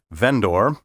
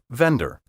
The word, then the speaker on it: vendor: In the courtroom, pompous lawyers and judges often pronounce these words juror, vendor, and defendant, and many members of the laity are now imitating them.